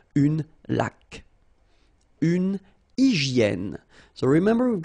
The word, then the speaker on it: laque: When you get this Q-U, well, U is not pronounced, so you get K, like that. Une laque.